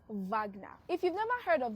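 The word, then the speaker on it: Wagner: It's pronounced Vagna.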